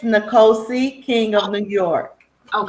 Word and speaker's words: Nicosia: me something about your script how do you pronounce it it's nicosia king of new york oh yeah i thought